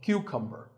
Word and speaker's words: cucumber: it's not a cucumber think of it like saying the letter q and then cumber like number so cucumber this vegetable is called